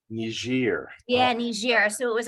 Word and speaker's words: Niger: up going to, so the Americans will pronounce it Niger, but the rest of the world will pronounce it Niger. Niger.